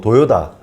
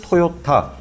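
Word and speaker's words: Toyota: 생각에는 발음이 2 어 일본에선 토닥 아 뭐 도요다 이렇게 발음을 한 듯 미국에선 돌아가 되게 어려운 발음 이라서 글로벌로 봤을 때 그걸 토요타 서양인들 한텐 토요타 라는 발음이 더 쉬워서 라는 얘기 라지 있구요 또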